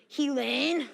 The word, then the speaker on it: Helen: Oh, probably couldn't understand because it's actually pronounced Helene. It's Gaelic.